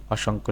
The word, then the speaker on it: অসংখ্য: এরপরে ২ নম্বর প্রশ্ন রয়েছে অসংখ্য শব্দটির প্রমিত উচ্চারণ কি? অসংখ্য শব্দটির প্রমিত উচ্চারণ হচ্ছে অসংখ্য, এইটা।